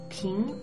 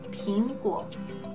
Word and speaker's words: 苹: And if you've watched our previous videos in the series, you already know that there is basically no difference between the pronunciation of P-I-N and P-I-N-G for many Chinese speakers, especially those in Taiwan,